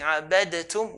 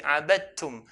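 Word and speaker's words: عَبَدْتُمْ: The rule is to merge them. So we're going to merge the dal onto the ta. So instead of saying abadatum, we'll say abadtum.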